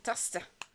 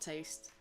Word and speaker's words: Tasta: We actually have Tasta in the team now. We was there before, but like, I can't believe I just never realized that it's Tasta, not Taste.